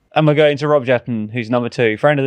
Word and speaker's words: Jetten: And I was like, "Your Prime Minister Rob Jetten." And they were like, "Oh, you mean Rob Jetter." Oh, really? So, we've been saying it wrong this whole time.